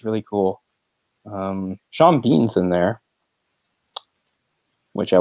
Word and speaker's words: Sean: So that's the S-E-A-N spelling of Sean, which I always liked. There's the S-H-A-W-N, which is phonetically, you're not going to screw that up. Sean and Sean, same thing.